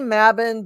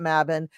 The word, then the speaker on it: Mabon: how you pronounce it I say mabin because I'm working with this woman and it comes around the fair comes around at the time of the year that we're talking about mabbin and so I just don't fight the tide she's my Elder in